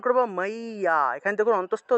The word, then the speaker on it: মজ্জা: তাহলে শ্রী ভগবান উবাচা দুই নম্বর এখানে দেখুন মজ্জা আছে বাংলায় বললে মজ্জা ঠিক না কিন্তু আমরা উচ্চারণ করব মাইয়া এখানে দেখুন অন্তস্থ জ আছে আবার জ ফলাও